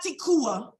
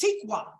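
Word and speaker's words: תקווה: Tikwa means hope. Tikwa. Right? It's not tikua. It's not that, it's tikwa.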